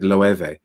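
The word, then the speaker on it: Loewe: that brand is but i've always pronounced it loeve um but who knows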